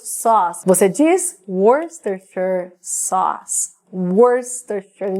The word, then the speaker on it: Worcestershire: Worcestershire. Escreve Worcestershire, mas não é assim que a gente pronuncia.